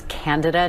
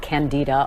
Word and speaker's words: Candida: of Japan in 2009 by the way it's candada not candida a lot of people mispronounce that but you know that class of